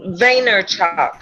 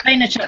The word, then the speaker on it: Vaynerchuk: But I will say I did, Gary, do you know how you pronounce his name that spoke at Summit, Rachel? His last name is great. Vaynerchuk. Vaynerchuk, that was it.